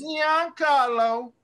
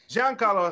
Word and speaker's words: Giancarlo Esposito: been in everything who giancarlo esposito giancarlo john carlo i was about to say like who is that dude there it is young carlo you say it right giancarlo esposito he's been trading